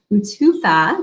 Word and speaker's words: Utupo: Kimberly Olson here, coming in live for a special Facebook Live interview with, even though it says, she goes by Utupo.